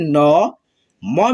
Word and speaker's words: नमः: तो यहाँ पे देखिए न, म में दो विसर्ग ऐसे लगा है ना, म के आगे, तो पढ़ेंगे न म और ह पढ़ना है, ठीक है। नमः, आधा ह पढ़ते हैं, नमः, पुनः, पुनः, दुःख,